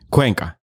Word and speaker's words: Cuenca: for being here on with misk podcast cuenca yeah is that how you pronounce your last name that's how you pronounce